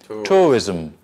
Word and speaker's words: tourism: it has like three tourism tourism tourism tourism tourism where is this class where is the accent tour why why the business tourism tourism Tori why is there white the stress on the first because - remember I